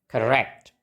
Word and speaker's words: correct: pengucapannya sama kebetulan Oke kita ingat-ingat lagi polanya tadi n gitu dan suku kata pertama enggak distres berarti kita pakaiwa bacanya jadi correct Oke correct Nah kita